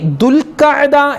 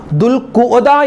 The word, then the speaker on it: ദുൽഖഅദ്: ആളുകളും ചോദിക്കുന്നു ഉസ്താദേ ഈ ദുൽഖ്ദ എന്നാണോ അതുപോലെ ദുൽഖിദ എന്നാണോ ദുൽഖുദ എന്നാണോ എന്താണ് പറയേണ്ടത് ദുൽഖദ എന്നാണ് പല ആളുകളും ദുൽഖാദ മാസം ദുൽഖാദ എന്ന് പറയും ദുൽഖാദ മാസം ദുൽഖിദ മാസം അങ്ങനെ പല രൂപത്തിലാണ് ആളുകൾ പറയാറുള്ളത് എന്താണ് കറക്റ്റ് അതിന്റെ ഉച്ചാരണം എന്താണ് ദുൽഖദ എന്നാണ് അതിന്റെ ഉച്ചാരണം ദുൽഖദ അതുപോലെ ചില ആളുകൾ ദുൽഹജ്ജ്